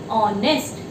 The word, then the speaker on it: honest: Moving on to the next one, same, honest. The correct pronunciation is not honest. Honest तो नहीं बोलते हैं ना, honest. So again it is sound O.